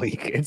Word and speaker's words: Malik: Did I pronounce that right, or does he go by Malik? Pretty sure it's Malik. No, it's Malik.